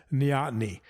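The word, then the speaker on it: neoteny: and he referred to this as nyotny that's spelled n-e-o-t-e-n-y nyani means taking youthful characteristics into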